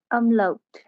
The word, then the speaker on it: Umlaut: सर क्या pronunciation है इसकी? umlaut, अमलाउट।